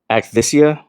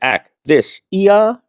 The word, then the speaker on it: akathisia: is something called aia, which I'm probably not saying it right. I'm saying it more the way I remember how to spell it, which is ak t h i s i a. So it's like a thisa.